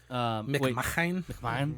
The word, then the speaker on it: McMahon: And he doesn't pronounce it weirdly. No, he's part of the family. Yeah. Okay. McMahon, yeah.